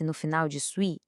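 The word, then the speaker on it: suis: Um detalhe importante na pronúncia, esse s no final de sui é mudo, a gente não fala, então fica jessui.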